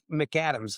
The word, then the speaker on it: McAdams: And your la your last name is is pronounced Mc McAdams.